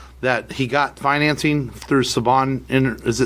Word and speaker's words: Saban: Sundance this morning that he got financing through Saban. Is it Saban?